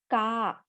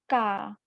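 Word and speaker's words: か: And how it is pronounced? It is pronounced as ka. It is pronounced as ka.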